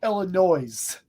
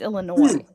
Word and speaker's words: Illinois: You're all-time top tier talent, but you say Illinois. Oh, does he? What's wrong with that? That's how I say it. No, Because the it's- S is silent. It's Illinois.